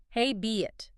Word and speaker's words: habit: For pronunciation, hey be it. It has 2 syllables. You want to stress the first part. Hey be. It sounds a bit like rabbit.